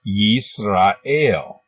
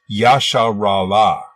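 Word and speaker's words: ישראל: In Hebrew, this word is pronounced Yisrael, but they believe that it was originally pronounced Yasharala.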